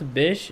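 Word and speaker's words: Bysshe: that would be nice that would be nice pronounce Bish he was Mary Shell's husband oh okay okay Percy Bish Shelly I actually don't read it my Discord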